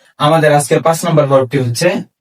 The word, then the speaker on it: هـ: আমরা চলে যাচ্ছি আমাদের আজকের পাঁচ নাম্বার হরফটি হচ্ছে হা আমাদের আজকের পাঁচ নাম্বার নাম্বার বলা হচ্ছে হাকার হা।